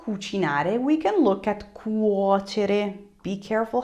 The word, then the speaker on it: cuocere: Now that you know cucinare, we can look at cuocere. Be careful how you're pronouncing it.